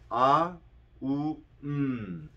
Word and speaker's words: AUM: The second way is AUM. So you're saying three syllables. A, U, M.